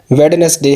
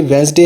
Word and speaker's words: Wednesday: रहम है, जो कि वेडनेसडे है। वेडनेसडे तो कोई प्रोनाउंसिएशन है ही नहीं इंग्लिश टॉकिंग डिक्शनरी में, ये वेंसडे है। ब्रिटिश भी इसको वेंसडे बोलते हैं और अमेरिकन भी इसको वेंसडे बोलते हैं।